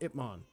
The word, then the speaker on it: Ip Man: It's not man. It's Ip Man. I gotta pronounce that right.